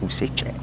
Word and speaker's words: Useche: Yes, Useche. Breaking ball, hits, strike. Thanks again to a viewer who gave us that pronunciation.